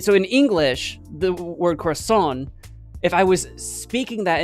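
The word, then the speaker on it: corazón: So sometimes I get that like screwed up, but corazon gets an accent on the O, yeah.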